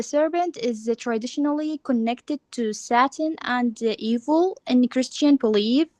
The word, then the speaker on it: Satan: It is Satan, not satin, right? Satin is a kind of cloth.